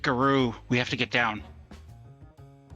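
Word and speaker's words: Garou: She can't pronounce right. Okay. It's apparently it's guru.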